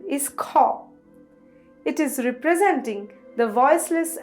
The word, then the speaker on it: খ: the next letter is co it is representing the voiceless aspirated Val plf sound the pronunciation is similar to the Kaa in Khalifa in English like do Co has